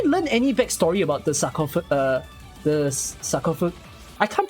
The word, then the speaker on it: sarcophagus: Sacrophagus? Sacro? It's not sacro.